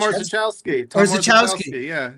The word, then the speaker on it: Orzechowski: But I noticed, help me pronounce this, Tom Orzechowski. Oh, Tom Orzechowski.